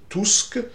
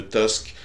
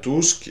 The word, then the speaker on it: Tusk: de Donald Tusk, hein, j'utilise à dessein la prononciation allemande qui, il me semble, est aussi en usage en Pologne, et non cette prononciation anglaise ridicule de Tusk qui domine dans les médias français, parce que ce sont des ignares.